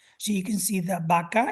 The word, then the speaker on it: vaca: So you can see that vaca is spelled with a V, but it's pronounced vaca with a B, with a stop B, bilabial.